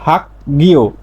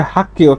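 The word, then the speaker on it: 학교: এই শব্দটার স্বাভাবিক উচ্চারণ হতো হাক গিও, হাক গিও। বাচ্চিমে গিয়ক থাকলে ক, আর গিয়ক তো মাঝে থাকলে গ হয়, তাহলে হাক গিও। কিন্তু এর সঠিক উচ্চারণ হচ্ছে হাক্কিও।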